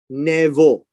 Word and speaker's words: Nebo: chapter and and this is important uh we pronounce this as nevo right this is a vet for the bee